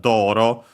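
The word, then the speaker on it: 道路: In Japanese, Doro. And yeah, it's a Chinese compound. One of those accent on the first Mora, so yeah, on the Do in our case, Doro.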